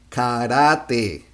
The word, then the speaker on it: karate: say kajak kajak kajak for karate we say karate and for karma is basically karma karma combination